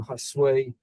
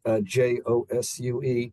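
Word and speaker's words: Josué: And similarly, the name Hasway came from a chef on an episode of Chopped. And I saw his name before I heard it, and it's spelled Josue. And I'm looking at it and I'm saying, okay, I'm going to guess it is not pronounced Josu.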